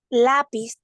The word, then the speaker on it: lápiz: Lápiz sería una palabra eh, Claro, llana. claro. ¿Por qué? Porque su fuerza, ¿verdad? Está en la penúltima sílaba.